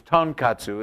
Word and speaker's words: tonkatsu: kissaten just it's like you have to it's tonkatsu is how you pronounce it of course I set the bar